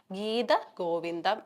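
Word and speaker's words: ഗീതഗോവിന്ദം: ഈ ഗീത, തായുടെ അടുത്ത് കിടക്കുന്ന അകാരം ആവശ്യമില്ലാതെ വന്ന് കയറി കിടക്കുന്ന ഒരു അകാരമാണ്. അപ്പൊ നിങ്ങൾ എന്ത് ചെയ്യുക, ആവശ്യമില്ലാത്ത സാധനത്തിനെ അങ്ങ് ഒഴിവാക്കുക, അത് ആവശ്യമില്ല നിങ്ങൾക്ക്. അപ്പോൾ നമ്മൾ കറക്റ്റ് ആയിട്ടുള്ള ഉച്ചാരണം എങ്ങനെയാണ് വരേണ്ട, ഗീത ഗോവിന്ദം എന്നുള്ള രീതിയിൽ മതി.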